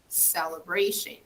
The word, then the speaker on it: celebration: Here, celebration, celebration. So the stress falls here. So it's stronger here, okay?